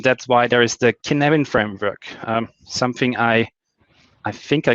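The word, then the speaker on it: Cynefin: And Kinevin, I'm not here to talk to you about Welsh pronunciation, but I think Kinevin is how you pronounce it correctly.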